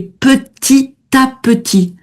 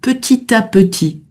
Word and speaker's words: petit à petit: Et petit à petit, là, on va faire la liaison avec le premier T de petit, hein, sinon on le on le prononce pas. Mais là, on fait la liaison petit à petit.